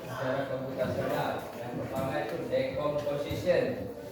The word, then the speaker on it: decomposition: Yang pertama itu decomposition. Bacanya apa? Decomposition bukan dekomposition ya.